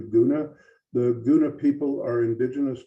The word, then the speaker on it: Guna: briefly the uh uh the Gona people for a long time they were uh spelled with a K or a Cuna. Uh but recently the the people have taken a vote and they've changed their official titles to Goona.